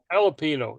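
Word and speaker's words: jalapeño: is silent there Jerry the Jay in jalapeno is silent a Yello no it's not jalapeno yeah it's an H jalapeno yeah it's like you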